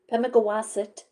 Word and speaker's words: Pemigewasset: Bear incidents in Pemi Pemigewasset um Pemigewasset, Pemigewasset. That's how you say it, Pemigewasset.